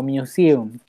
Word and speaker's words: museum: Pronuncia conmigo, museum. Museum, perfecto, muy bien Trinidad.